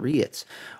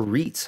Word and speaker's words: REIT: a lot of different reits or reits however you want to pronounce it i've heard it both ways we have east coast